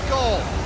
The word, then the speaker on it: vehicle: Man, if I had a Beagle engine part, I could make a motor. Beagle? Beagle? A Beagle engine part? Vehicle! Vehicle! Vehicle! It's three syllables.